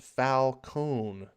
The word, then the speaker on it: Falcone: Marani says it's pronounced Falcone, like pal and cone, like ice cream cone.